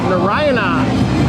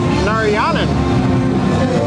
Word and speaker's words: Narayanan: the first time yeah i wanted to say nariana yeah that's wrong and we're gonna head